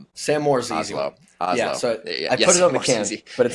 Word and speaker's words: Hazlo: I'm pumped today to have Sam Moore from Haslow on the podcast. Sam, how are my friend? How are you? I'm good. Actually, the the name is pronounced Oslo, so we can just re Oz.